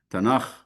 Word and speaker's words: Tanakh: The Masoretic Hebrew Bible is divided into 3 parts, tripartite, 3 parts, and represented by the 3 letters acronym TNK for the pronunciation Tanakh, that's Hebrew.